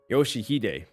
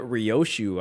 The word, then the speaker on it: Yoshihide: Yoshihide. That's how you say it. How do you get Rioshu out of Yoshihide?